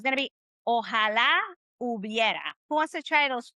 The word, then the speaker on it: hubiera: Hubiera. Hubiera. The H is silent. Okay. We don't really, the H doesn't even speak anymore. It's like silent.